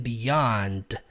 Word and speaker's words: beyond: frase to infinity and beyond. Tecnicamente a palavra beyond, que significa além, ela termina com d. Beyond, só que o D não é pronunciado.